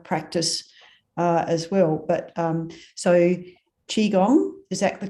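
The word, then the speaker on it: Qigong: But so Qi Gong, is that the correct pronunciation?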